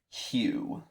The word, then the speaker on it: Hugh: listening to some reviewers, they say it as the name Hugh.